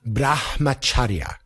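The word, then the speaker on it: brahmacharya: So we'll not go through it right now but right it's pronounced to the best of my understanding brahmacharia.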